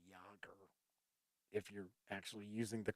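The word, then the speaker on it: Jaeger: jagger or as a said in pacific rim jager it's actually yogurt if you're actually using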